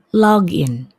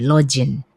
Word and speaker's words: login: Nah, biasanya kata ini diucapkan salah, ada yang mengucapkannya login gitu ya. Jadi G-nya dibaca J, login.